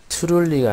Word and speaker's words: truly: Truly가 아니라 Truly라고 발음하셔야 됩니다. TR을 동시에 발음합니다.